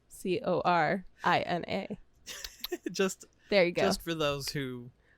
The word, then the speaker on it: Corina: Karina's name is spelled Corina. just There you go. just for those who need to know. They know. Indeed. you know. Corina. Yeah. Like NA as in like not applicable.